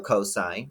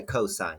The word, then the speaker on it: cosine: is cos is still cosine you still say cosine you don't say costs or coasts okay I tangent is